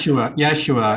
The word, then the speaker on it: Yeshua: Yeshua, yeah. With a, Yeshua. I think it's spelled with a Y.